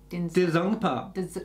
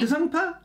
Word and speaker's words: Denzongpa: fight scenes, and it's got Sunny Deol, Danny Denzongpa, and it's from the movie Ghatak. Danny who? Danny? Oh, yeah, but how do you say his surname? Denzongpa. Denzongpa.